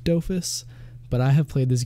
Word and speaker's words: Dofus: this one was the doofus time video and hurt all right so I'm gonna address this now I say doofus I mean sorry I say doofus I know it's pronounced dofus but I have played